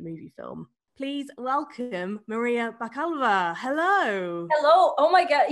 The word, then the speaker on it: Bakalova: film borat subsequent movie film please welcome maria bakalva hello hello oh my god you you pronounce my name proper the way that it